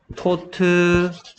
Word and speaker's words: taught: Teach 나온 김에 3단 변신 Teach taught 토치가 아니고요. 발음 GH 소리 안 납니다. Teach taught GAU는 O 소리 납니다.